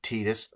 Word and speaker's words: Tidus: final fantasy we got titus over here i know his name is supposed to be pronounced tidus but i do not like that i like titus this